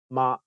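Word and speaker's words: 媽: In Cantonese, mother is ma and horse is ma.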